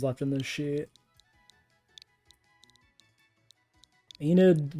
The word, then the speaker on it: Enid: left in this sheet Enid with an e at the end Enid Enid silent E I don't know see